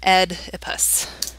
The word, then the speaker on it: Oedipus: So yeah, and that's how you pronounce his name, Oedipus.